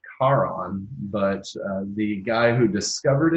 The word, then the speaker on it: Charon: which has a leopard gecko named after but Sharon is the largest moon named after the ferryman of the Dead takes you across the river Styx or whatever to join the underworld should be pronounced Karan but the guy who discovered it wanted to